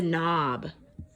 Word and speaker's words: knob: The knob. Yeah, we have a knob on our door to help open it up, right? And there we have that silent K we don't hear.